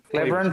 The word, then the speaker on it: Cleburne: Is that how you would pronounce that, Beto? Cleburne, Texas? Cleburne, Texas, yep.